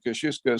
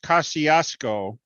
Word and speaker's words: Kosciuszko: the guy who organized the original Kosciuszko Squadron, went on to produce and direct the movie King Kong.